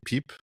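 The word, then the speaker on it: Pijp: And also the Pipe, or the Piep. How do you say it, Dave? The Pipe.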